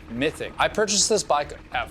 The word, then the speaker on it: Mythique: A quick correction, I've been calling this model a Mythique for quite some time, but it's actually pronounced Mythic.